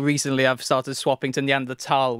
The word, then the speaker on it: Neanderthal: adult life I said neand thul but still recently I've started swapping to neand tal which apparently is like the proper German pronunciation excellent okay and and